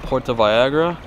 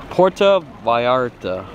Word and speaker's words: Puerto Vallarta: he loved puerto vallarta you know i'm gonna say it properly puerto vallarta all right puerto rico puerto vallarta yeah see there we go there you go i'm saying it correctly all right everyone well